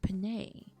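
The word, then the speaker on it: penne: If it was just pronounced pen, I would have been like, nah, that's basic. But it's pronounced Panay, so you know it has a little pizzazz to it.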